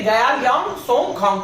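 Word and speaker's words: Gyelyong Tshogkhang: Okay, गयालियांग सोंगखांग, टी यहाँ पे silent है, ठीक है।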